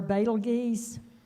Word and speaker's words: Betelgeuse: And as far as fun fact, the star Betelgeuse, you all may remember the spelling of it from a movie called Beetlejuice. Right. Sometimes that's the way it's pronounced.